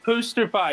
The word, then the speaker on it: Pooster Pie: Is it Pooster? Like, as in, like, poster, but, like, with the word poo? It's Pooster Pie.